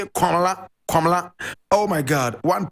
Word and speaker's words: Komla: And I spell, Komla is spelled K-O-M-L-A. That is the Akan, Kwabena, Akan, we say Kwabena. In ever we say Komla, Komla.